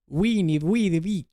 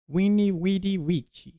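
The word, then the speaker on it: veni: Weni. I think it's pronounced that way in Latin. Weni.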